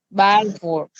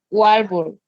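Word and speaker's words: Walvoord: Depende de dónde sea ese apellido. Bueno. Si es alemán, se pronunciaría como una B, Balfour. Pero si es inglés, sería Walbur. Bueno, Walbur o Balfour, un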